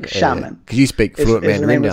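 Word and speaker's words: Xiamen: will criticize my Chinese pronunciation but yeah it's pronounced shamon like shamon could you speak say yeah yeah like yeah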